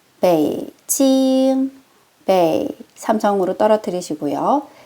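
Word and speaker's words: 北京: 우리 북경의 정확한 중국어 발음은요. 삼성일성이에요. 베이 찡 베이 삼성으로 떨어뜨리시고요. 찡 일성으로 유지해 주실게요. 베이징 여건입니다.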